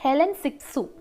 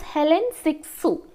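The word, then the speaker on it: Hélène Cixous: so there is another critic her name is Helen siksu pronunciation might be a bit difficult for you her name is Helen siksu okay the other person was Simon that is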